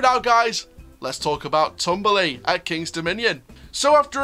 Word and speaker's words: Tumbili: for a topsy-turvy adventure tumbly pronounced tomberley uh the swally word